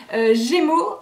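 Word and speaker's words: Gaimo: donc de la marque Gémeaux, donc ça s'écrit G-A-I-M-O, donc pas Gémeaux comme les magasins de chaussures et de vêtements, hein, c'est une autre marque.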